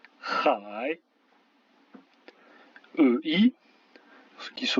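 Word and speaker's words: 海: AI, ça se prononce comme dans bataille, par exemple le mot qui veut dire la mer, hai.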